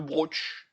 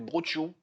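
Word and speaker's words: brocciu: C'est le broch. Non, c'est brochiou. Il y a deux C-I-U. Ça fait brochiou.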